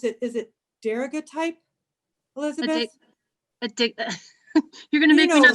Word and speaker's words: daguerreotype: Is it daguerreotype, Elizabeth? You're gonna You make me know- not be able to see it. A daguerreotype.